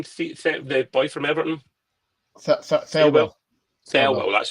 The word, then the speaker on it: Thelwell: Thelwell, that's how you pronounce it.